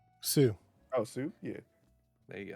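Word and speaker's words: Sioux: do you spell or how do you say s s-i-o-u-x sue oh soup yeah there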